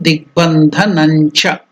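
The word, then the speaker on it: दिग्बन्धनञ्च: So you have to stress as in nya. Digbandhanam cha. That is the pronunciation. So here Divya Vighna Nivaranam and the. So what is the next word is the. So tata dada na has to be stressed there. So Divya Vighna Nivaranan, Divya Vighna Nivaranan Digbandhanancha. So that is the way of pronouncing Anunasika, nasal sound.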